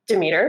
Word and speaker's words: Demeter: And from that audition, they cast me as Demeter, which I found out is how you pronounce it.